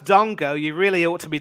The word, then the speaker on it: Dango: one more thing given that his name's pronounced Dongo you really ought to